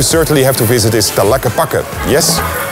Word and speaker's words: Tlaquepaque: A place you certainly have to visit is Tlaquepaque. Yes, pronounce it again, Tlaquepaque.